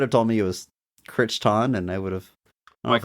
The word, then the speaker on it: Crichton: Um, I had a Michael Kiteon phase sometime in high school.